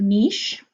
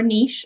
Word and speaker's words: niche: Some people say the word niche. I tend to prefer niche, honestly. And niche is the other way that you can appropriately say it. It looks like originally the pronunciation was niche. Yes, I looked it up. However, the Americanized version of it is niche, and at this point, both are considered proper and technically correct, but you need to